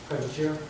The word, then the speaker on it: Privatera: Privatera, Privatera. spell that P.